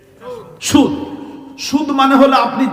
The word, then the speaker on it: সুদ: চা একটা পান ঐক্য বুঝছেন না এটা কি সুদ সুদ সুদ মানে হলো আপনি যা দিয়েছেন তার কোন অতিরিক্ত নেওয়া যাবে না কিছু গ্রহণ করাই হলো সুদ এটা শব্দটা মূলত ফারেসি ফারসি না উচ্চারণটা ফারেসি সিন ওয়াও দাল মূল উচ্চারণ হলো